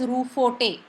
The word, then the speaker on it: Roquefort: But we pronounce it as Ruforte.